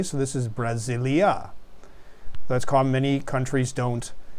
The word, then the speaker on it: Brasil: They liked it Brasilia. Okay, so, and even in the Portuguese language, the name, the country Brazil is pronounced Brasil. It almost ends with an oo sound, with like a vowel there.